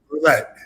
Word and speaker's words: roulette: movie's called genetic roue roulette I always say that word wrong it's roulette right yeah it's roulette always say it like in French I don't know why